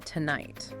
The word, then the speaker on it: tonight: And then consider the stress in tonight. Where does that fall? It's unstressed on the first syllable, two, and stressed on the second, night. So tonight, tonight.